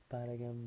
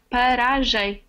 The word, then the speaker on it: paragem: Paragam de auto. How do you pronounce that? Paragam. Paragam. No, paragem. Ah, paragé. Paragé. Paragem. Paragé. Paragem. Okay, so that's pronounced.